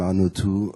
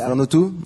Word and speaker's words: Arnautu: Bonjour Madame Arnautou. Bonjour monsieur. Pardon. Non, Arnautou, c'est bien, ça se prononce comme ça. Arnautou ?